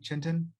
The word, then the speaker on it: Chintan: Chintan? Yes, that's the correct pronunciation.